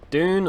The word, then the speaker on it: Dune: Dune, or Dune as us Brits pronounce it, was directed by Denis